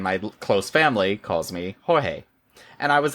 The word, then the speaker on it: Jorge: And so I asked, and he says, so most everyone calls me George, except my husband and my close family calls me Jorge.